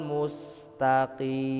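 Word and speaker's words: الْمُسْتَقِيمَ: Musnaah itu bacanya itu seharusnya ketika huruf mim sudah masuk huruf sa itu mulut kita balik, Pak. Ihdinasiratal musna. Jadi yang monyong itu pas huruf mimnya, pas huruf sanya itu mulut kita balik lagi. Karena setiap huruf sukun itu dikembalikan ke awal ya. Jadi jangan ikut monyong.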